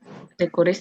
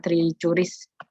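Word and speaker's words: Trichuris: Trikuris, trikura. Cacing Askaris. tambang, Bu. Askaris. Kalau askaris itu askaris lumbricoides ya. Oh ya, askaris lumbricoides. Oke, kemudian di sini ada trikuris, trikura. Bacanya trikuris ya, bukan tricuris.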